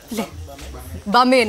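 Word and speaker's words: Gbamin: We also have Jean-Philippe Bamin, okay, so the G is silent.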